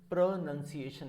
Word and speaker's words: pronunciation: No, this is pronunciation is the right word.